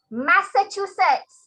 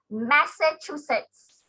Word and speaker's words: Massachusetts: often harbour is okay so let's hear the correct pronunciation thank you very much indy your answer is correct okay thank you adam massachusetts that's how you pronounce so it you learn a new thing a new word massachusetts okay massachusetts that's it that's the name that's how you pronounce it massachusetts yeah okay let's